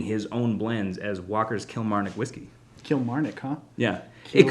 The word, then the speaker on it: Kilmarnock: If my New England background it lends anything to experience, then you gotta just kind of roll through the syllables. Just keep going with it. And it should be Kilmarnock.